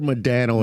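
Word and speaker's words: Modano: I've never heard Madano in my life. Well, normally I mean I guess I would call you out. Well, I've heard it. That's the like Canadian pronunciation.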